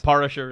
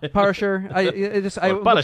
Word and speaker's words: Parashar: Did I say that right? In a condescending tone? Yes, in the condescending flourish, you said it right. So yes. Parashar is fine. Parashar.